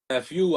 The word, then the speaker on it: Eff Yoo: was telling you man a lot of people mispronounce my name I think it's from the texting era you know yo is now when somebody goes yo what's good but it's my name is Fu you know what I